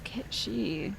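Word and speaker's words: Cait Sith: I think it's Cat Sheath, right? Does the pronunciation of that feature into the new Final Fantasy remake? Ketshi, you think? Oh, it's Ketshi.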